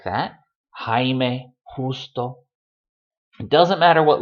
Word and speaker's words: Jaime: A Spaniard pronouncing this letter will say Jaime, justo, dibujar. It's a very rough, throaty noise.